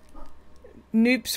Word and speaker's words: Noops: Noops rhymes with soups, Brian said.